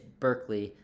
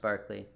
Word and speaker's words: Berkeley: It's Berkeley, like Berkeley Allison's name, or Berkeley, California, but it's pronounced Barclay.